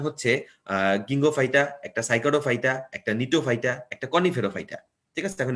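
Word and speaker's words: Gnetophyta: এই যে জিএনই না, জি উচ্চারণ হয় না, এটা অ্যাকচুয়ালি নিটোফাইটা। সাইপ্রাস মানে সাইকাডোফাইটা, আর গেল মানে গিঙ্গোফাইটা।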